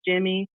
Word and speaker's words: Jamie: It's spelled Jamie, but it's pronounced Jimmy.